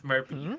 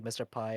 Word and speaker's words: MrP: some people who actually mispronounced my name as mpy like right instead of Mr P cuz there's no there's